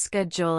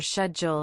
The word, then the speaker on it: schedule: Also, note that schedule can be pronounced schedule in American English or schedule in British English.